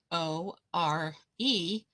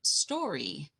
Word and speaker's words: store: how the word s s-t-o-r-e is pronounced stor not story the e is silent but linguistic anthropology studies